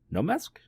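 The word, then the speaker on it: Noh mask: how you pronounce that just no no mask no mask okay like a no mask of frigid ice there we go and then there's a subtle H in there the darkness seeped into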